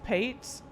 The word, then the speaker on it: Pate: We're sure it's not plate, right? It's pate. And you pronounce it like that, pate?